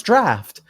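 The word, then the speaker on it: draught: more you know dropped DRA you ght it sounds draft the more you know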